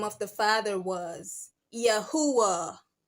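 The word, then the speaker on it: Yahweh: So it would have been if you replace the the J back with the I, it would have pronounced Yahwh because clearly you are seeing that I'm looking at a U and not a V.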